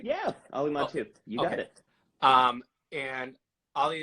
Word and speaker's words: Mattu: Am I pronouncing your last name right? Yeah, Ali Mattu.